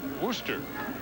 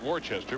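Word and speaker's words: Worcester: of Boston College to Rooster or it looks like Worchester but it's not pronounced that way where they'll meet the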